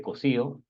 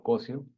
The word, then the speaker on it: Cosío: Mi nombre es Cosío, no Cosio, mi nombre es